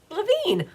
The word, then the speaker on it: Lavine: Barbara says, "Pronounced like singer Adam Lavine." Ah, Lavine. I like it.